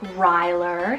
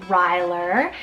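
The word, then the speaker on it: Rylor: So I have Ryler, spelled R-Y-L-O-R, Ryler.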